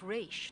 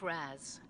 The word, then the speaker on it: Ra's al Ghul: Beyond very thorough Terry the father's name was pronounced rich not razz a common mistake okay Batman Beyond says one